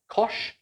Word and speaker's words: cosh: happens when we add kosh and cinch together so i just used an alternative pronunciation we can call this as we can call this guy kosh and we can call this cinch so that is just